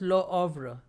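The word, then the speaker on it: Le Havre: scene and lo ovra so h is silent so it is pronounced as lo ovra is also located on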